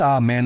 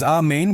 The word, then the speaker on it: Amen: It is not amen like in English. It is amen with the emphasis on the second syllable and with a guttural sound at the end almost like you are saying a main o.